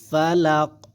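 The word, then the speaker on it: فلق: তাহলে এখানে কি হবে ফালাক ফালাক ফালাক ফা জবর ফা লাম কুফ জবর লাক এরকম ভাবে ফালাক এরকম উচ্চারণ হবে কিন্তু ঠিক আছে তাহলে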